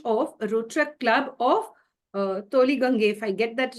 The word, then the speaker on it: Tollygunge: She has also been the president of a Rotaract club of Tollygunge, if I get that right. Ma'am, can you please pronounce that for me, please? It's Tollygunge Yuva.